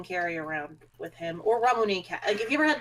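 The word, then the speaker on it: ラムネ: a variety of things i thought you said ramoney and i'm like oh no ramune okay i've never heard it pronounced like that i've always heard ramoon no the proper term is actually ramune okay at least that's how i've heard it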